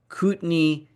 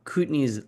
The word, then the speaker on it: Kootenay: This video is sponsored, as every week, by Koot-NAY Silver, symbol KOOYF in the US, symbol KTN in Canada.